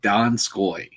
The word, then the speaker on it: Donskoi: rough marshawn lynch uh it's pronounced don scoy right you don't don't